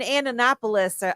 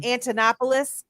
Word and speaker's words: Antonopoulos: in space him and andonopoulos I always say his name wrong those two I was listening to a lot you know I'm talking about um Antonopoulos that guy super smart